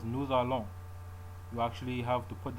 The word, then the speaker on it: nous allons: The liaison is the name given to the sound produced by carrying over the last consonant of one word to the first vowel of the next, rather like an apple. So, for example, we pronounce nous allons, nous allons.